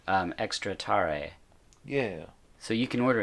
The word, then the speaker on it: tare: Ramen the esab um Etc and you're saying tare yeah so that's spelled just t a r e right okay